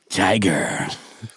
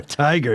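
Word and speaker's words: TIGHAR: historic aircraft recovery or tiger or tiger yes with GH though TI i g h a r I still think that's pronounced tiger and it's an organization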